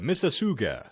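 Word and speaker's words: Mississauga: it properly but yeah it says uh mrsuga like mississippi but with an uga aruga okay moving on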